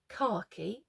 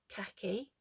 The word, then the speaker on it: khaki: were laughing at that, the correct pronunciation is khaki, not khaki. Khaki means something entirely different where I'm from.